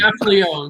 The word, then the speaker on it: Gaffalione: Gaffalione. Drop the E. Just Gaffalione.